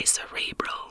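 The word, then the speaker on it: acerebral: word is pronounced to a cerebral with a stress on the third syllable the ghost might dumy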